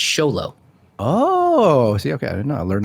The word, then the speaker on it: Xolo: It is a Hispanic thing because the guy from Miguel from Cobra Kai, his name is spelled XOLO and it's Sholo.